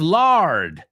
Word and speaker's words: lard: And then lard rhymes with barred, right?